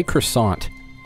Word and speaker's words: croissant: you can't do it got a t on it though croissant yeah but you don't say the t at the end there's no such thing